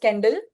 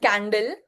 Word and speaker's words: Kendall: I think it is pronounced Kendall, not Candle.